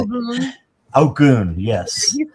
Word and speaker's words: Ogun: Or the other Ogun, or I can't remember how to say it. Ogun, yes.